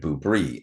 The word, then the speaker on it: Boobrie: And then we have the Boobrie. And yes, I said boob. But not booby. I said Boobrie. It's b o o b r i e.